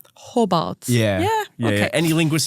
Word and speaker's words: Hobart: But it's like very subtle glottle stop. Hobart. Hobart.